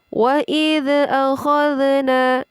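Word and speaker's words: وإذ أخذنا: Jadi ini mutlak huruf dzal sukun tidak boleh dipantulkan. Wa idh akhadna, seperti itu. Jadi yang tepat adalah wa idh akhadna.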